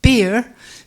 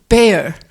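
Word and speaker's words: bere: farmers and historians pronounced beer but I've gathered the archaeologists pronounce it bear like the animal um the kind of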